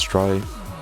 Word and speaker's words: trie: movies a tree pronounced as try our prefix tree is